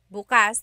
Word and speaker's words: bukas: If you say bukas, bukas, the emphasis is on the second syllable. That means open. If you say bukas, bukas, emphasis is on the first syllable. that means tomorrow.